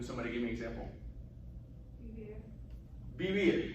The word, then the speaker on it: vivir: that V is pronounced, a lot of times it sounds very be-ish, like your English be, right? So you don't hear me saying vivir, like really hard V. You'll hear me say vivir, right?